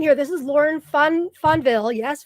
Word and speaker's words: Fonvielle: you for being here this is lauren fun funville yes fonville yes correct pronunciation she is an integrative energy practitioner is